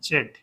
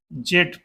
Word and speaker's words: Z: या यूं कहें कि एशियाई देशों में जेड जिसे हम बोलते हैं वह पश्चिमी देशों में जी का उच्चारण उसे किया जाता है। जो जनरेशन जेड को वो जनरेशन जी बोलते हैं।